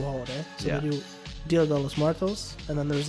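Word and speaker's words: Día de los Muertos: And like, it's Dia de los Muertos.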